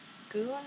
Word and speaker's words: Sckoon: of this brand um called scoon I think that's how you say it it's s c k o o n so I